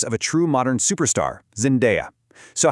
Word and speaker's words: Zendaya: A lot of people get it wrong, but it's not Zendaya. The correct way to say it is Zendaya.